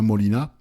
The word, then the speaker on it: Molina: Vous pouvez taper Romain Molina, Molina comme ça se prononce, hein.